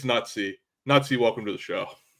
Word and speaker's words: Nutzypoo: It's Nutsy.